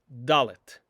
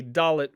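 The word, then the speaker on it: dalet: not distinguish and so a dalit will always be pronounced as da like in the word davar davar for word or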